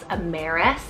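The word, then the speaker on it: Amares: also means twin now I have the name amaris it's spelled a-m-a-r-e-s Ameris this is incredibly handsome kind of romantic too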